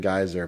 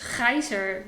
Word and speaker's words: Gaiser: English accent and and geyser but maybe you can before we get anything what is the pron the correct pronunciation of your name it's Kaiser with the Dutch I triy I tried